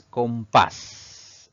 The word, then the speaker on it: compás: sí termina en vocal nuestra segunda palabra es compás si dividimos esta palabra en sílabas pues tiene dos sílabas sin embargo la mayor fuerza de voz recae en la última sílaba contando de derecha a izquierda es una palabra aguda y vamos a colocarle tilde porque termina en una consonante s nuestra tercera palabra es